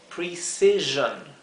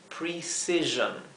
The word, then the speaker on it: precision: S suave, s, y acá la S que se encuentra entre dos vocales, o sea, entre dos I, se pronuncia como la S zumbada, z. Así que esto se leería precision, precision.